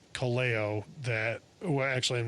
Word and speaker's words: Kaleo: New material wise, there's a band out of Iceland called Kaleo that, well, actually I'm not even sure how to pronounce it. We think it's either Kaleo or Kaleo. It's Kaleo, and they came out